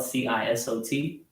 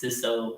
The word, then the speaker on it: Cisot: So that's how it's spelled, CISOT, and the T silent. So when you say it, it's Cisot, not Cisot, Cisot. Yeah, Cisot, dude.